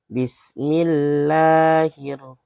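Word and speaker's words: بِسْمِ اللَّهِ الرَّحْمَٰنِ الرَّحِيمِ: Nah, ketika A-nya 2 ini berarti La-nya itu panjang, 2 ketukan. Ya. Bismillahirrahmanirrahim. Nah, standar ketukan 2 ketukan itu adalah semampu kita itu membacanya hanya sekedar 1 ayunan saja. Bismillahirrahmanirrahim. Jangan terlalu panjang seperti halnya kita biasanya itu Bismillahirrahmanirrahim. Itu kurang tepat.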